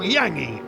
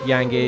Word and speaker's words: Yangi: Ian Guy in French, Ian is pronounced Yang, and Guy is pronounced Guy, so Yangi has come from just the French pronunciation of Ian Guy.